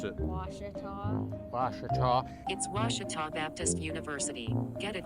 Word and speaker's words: Ouachita: for wasita Baptist University back in Texas everybody pronounces it Witchita but really it's was was how would you pronounce it was it'sah Baptist University get it right it's was people